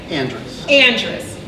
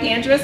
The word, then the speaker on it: Andreas: but by the way, it's Andreas. And it's pronounced just the way it's spelled. I have no idea why I did it, but it's Andreas, and I think it's